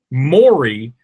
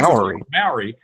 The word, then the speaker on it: Mowry: my daughter's middle name is Maury, but it's spelled Mowry, which I think anybody was saying Maori. And Maori. That's how I said it forever.